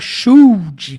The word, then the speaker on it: should: fala and ó e você não fala should com o som do L esse L aqui é mudo esquece ele tá isso